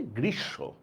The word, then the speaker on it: গ্রীষ্ম: এই বানানটার উচ্চারণ আমরা করি হচ্ছে গ্রীসম্য।